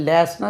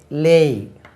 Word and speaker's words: lay: LAY லேய். LAY லேய். லேய்னா வை, அது லே சொல்லக்கூடாது.